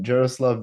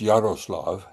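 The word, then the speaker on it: Jaroslav: Uh, Jeruslav Vanick. Yeah. Uh, yeah. He was I think it's pronounced Yaroslav.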